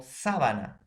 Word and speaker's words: sábana: En cambio, sábana, ¿no? Tiene una intensidad en su pronunciación en la antepenúltima sílaba.